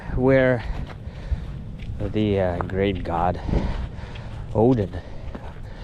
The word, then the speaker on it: Odin: the uh great god Odin or as they pronounce it here Udin I used to live